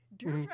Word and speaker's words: Deirdre: It was Deirdre, correct? Yay. You said it right, don't worry. I understand it's a little bit difficult, it's not in English, but you said it correctly.